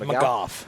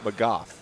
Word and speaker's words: McGough: This is Michael McGough. How do I pronounce your last name? McGough. McGough. Yeah, like cough.